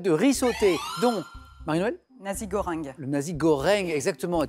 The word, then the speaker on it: nasi goreng: Nasi goreng. Le nasi goreng, exactement, est très bien prononcé.